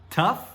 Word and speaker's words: tough: na tela, todos têm esse GH que fica muito esquisito, mas olha as pronúncias. Nós temos tough, through e though. Tough, through, though. Mas, cara, olha só, as letras parecem as mesmas, mas são sons completamente diferentes.